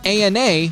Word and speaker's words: ANA: It's an acronym that Ethan pronounces Anna instead of ANA like most— Yeah, he's not a doctor, bro.